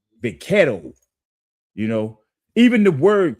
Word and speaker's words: vaquero: The Mexicans, they have a Spanish term for it, is vaquero. That's how they say it, vaquero.